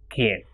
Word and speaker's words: quien: Same way, this ka sound is pronounced with que, that is queso, and qui, that is quien.